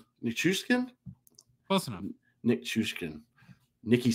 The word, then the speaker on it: Nichushkin: I think I said Chushkin? That one. No, I didn't. I said it wrong. Nichushkin.